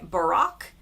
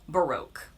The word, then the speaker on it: Baroque: In the UK, they say Barack and in the US, we say Baroque.